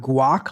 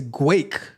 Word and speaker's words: Guake: have on the list is guake not guac like I I honestly thought you guys are going to laugh at me right I honestly thought it was like guac like playing off guacamole but it is guake playing off the game